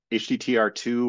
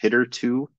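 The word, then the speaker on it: httr2: or differentiate that this is from the um HTTR 2 or apparently it's actually pronounced hitter 2 uh package um documentation this is like the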